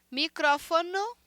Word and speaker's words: micrófono: Micrófono para microfone. Micrófono para microfone em português.